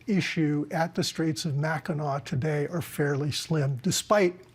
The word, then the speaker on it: Mackinac: Straits of, and we should remind people, you pronounce it Mackinac, even though it's spelled Mackinac. That's right. But it's pronounced Mackinac.